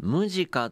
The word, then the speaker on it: Musicca: いうですねまぁ musica de 読み方っていうのかなムジカという実は斎藤な